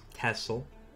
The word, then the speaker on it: Texel: it that way it it's written Texel but we pronounce it tessel yeah that's actually a